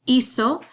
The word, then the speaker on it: hizo: And then hacer is a double irregular because that third person, él, ella, usted, and it, goes to that Z, pronounced hizo.